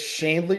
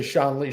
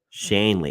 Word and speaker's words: Schonely: points for this is it shley in the pronunciation it's Shanley Believe It or Not Mike it's Shanley it's uh it's German and but a lot of people say sha Lee Shan Le I've got a lot of pronunciations